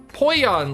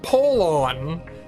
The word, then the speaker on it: Polon: Poyon, like in Spanish. No, apparently not. Now you say it like Polon.